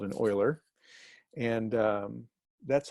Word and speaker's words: Euler: It's pronounced like Euler, someone who deals in the oil field, works in the oil field. It's called an Euler.